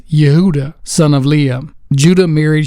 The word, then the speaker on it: Judah: fourth son of Jacob Judah properly pronounced Yuda son of leam Judah